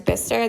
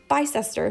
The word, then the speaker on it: Bicester: are we going to Bicester for?" He goes, "Oh, it's that's not where we're going. We're going to Bicester." And I was like, "Oh, definitely not how it's spelled."